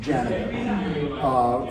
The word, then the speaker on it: Janega: And we've pronounced our name Janega for quite a long time. Yeah. And so I, growing up, always said the name Janega.